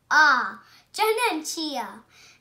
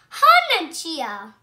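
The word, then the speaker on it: Janenschia: I'm going to tell you how to pronounce it. Janenchia. Janenchia.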